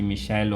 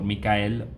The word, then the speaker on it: Michael: Right, so it's actually Michel or Michael. Okay, so there's different pronunciations.